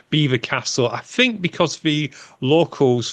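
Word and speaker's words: Belvoir Castle: I believe it's pronounced Beaver Castle it's spelled Belvoir but it's Beaver Castle I think because the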